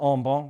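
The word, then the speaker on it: en banc: goes potentially to an Al Bon review or Al Bon if you want to pronounce it properly a bench review of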